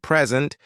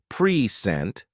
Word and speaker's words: present: For example, the word present changes meaning based on stress placement. Present, a gift versus present, to offer.